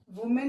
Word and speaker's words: women: Now children, you need to know single noun वुमेन, WOMAN को हम वुमेन बोलते हैं. जब इसका प्लूरल करते हैं तो हम विमेन पढ़ते हैं. ये आपको ध्यान रखना है.